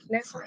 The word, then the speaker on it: Nassau: Nassau?